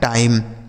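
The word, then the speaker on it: time: ठीक है, टी आई एम ई, टी से हो गया टा, आई का उच्चारण आई और एम ई से म, लिखा गया है टाइम, टी आई एम ई टाइम।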